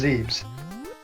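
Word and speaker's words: Zebes: to zeth well yeah they spell it zeth but they pronoun it's always been pronounced zebs oh okay I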